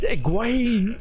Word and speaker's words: Egwene: end of the book they say this is how you pronounce it, or supposed to pronounce it, is Egwene and Nynaeve, because I kept saying Nineveh and Egwene. No, it's Egwene and Nynaeve.